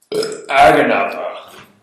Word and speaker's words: Aganatha: Aganatha. That's actually how it's pronounced. That's right. There's certain guttural terms that just don't come across in common as well as they do in Dwarvish.